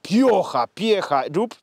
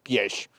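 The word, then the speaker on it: Piëch: Otóż ten samochód, cofnijmy się troszeczkę, powstał w czasach rządów Ferdynanda Piecha. Tak słyszałem, jak Niemiec wymawiał. Nie Piech, nie Pioch, tylko Pieś.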